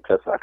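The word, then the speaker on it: פסח: So when we read in Exodus and in Deuteronomy, when they talk about the Passover or talking about the Pesach, as it's pronounced in Hebrew, that's talking about the sacrifice.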